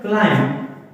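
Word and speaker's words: climb: For example एक लफज़ है listen listen listen मैट्री silent है तो इसे साइलेंट लेटर कहा जाता है। मसलन क्लाइम सी एल आई एम बी क्लाइम तो ज्यादा अल्फा ऐसी भी हो सकते हैं जिनमें 20 से होता है।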